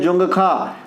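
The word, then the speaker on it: Dzongkha: इसके अलावा भूटान की भाषा ये ज़्यादा पूछता है, इसका नाम है जोंगखा, जोखंगा, जोंगखा, इस प्रकार से। देखिए इस प्रकार से, इसमें डी साइलेंट रहता है, फिर लिखते हैं अंग्रेजी में, हिंदी में इस प्रकार से जोखंगा, इस प्रकार से।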